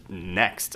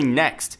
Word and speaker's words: NXT: reportedly called the NXT probably pronounced just simply next apparently we can expect